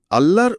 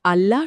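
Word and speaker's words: الله: তাজদের নিয়মে এটি আরবি ভাষার একমাত্র শব্দ যা তাফিম বা ভারী উচ্চারণ ধারণ করে।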